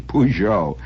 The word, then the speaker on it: Peugeot: York New York and you can spell it P double o j o e pujo after you get your